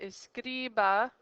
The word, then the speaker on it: escriba: If you look at escriba, the ba is the last syllable, so the syllable before would be the scri.